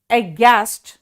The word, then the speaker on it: aghast: लेकिन याद रखना, यहां एच साइलेंट है, एच यहां पे साइलेंट है, इसीलिए मैं सिर्फ आपको